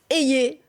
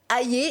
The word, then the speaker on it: Hayer: Info qui s'en charge Valérie a et non a ou aè même V le jour